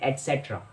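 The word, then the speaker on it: et cetera: इस शब्द को शॉर्टकट में ETC कहते हैं, लेकिन इसका फुल जो वर्ड है उसकी प्रोनाउंसिएशन होती है एटसेट्रा, एटसेट्रा।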